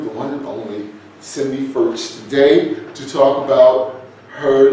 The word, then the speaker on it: Fertsch: My name is Raymond Tyler, and we are here with the one and only Cindy Fertsch. Hi, Raymond. Did I pronounce that right?